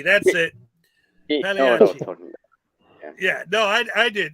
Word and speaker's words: Pagliacci: But one thing I did want to say to Peck, the G is silent. It's Pagliacci. The CC is spelled like an H, like it's Italian, Pagliacci. Yeah, Pagliacci. That's it. Pagliacci.